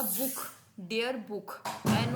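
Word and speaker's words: Buch: ख की यानी कि बी यू सी एच है ये होगा book dear book N ओ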